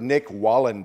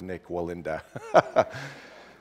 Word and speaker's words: Nik Wallenda: many have heard of Nick Walland ah it probably didn't pronounce that right Nick Wall and Melinda so I have you have heard of Nik Wallenda so he's a crazy